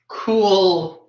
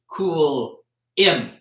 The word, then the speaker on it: Cool Imp: Well, Coolin, which I've been mispronouncing, has been trying to progressively correct me on how to pronounce their name, which is Cool Imp.